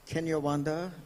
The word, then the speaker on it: Kinyarwanda: exchanging notes, and that is that, is it pronounced Kinyarwanda, the language?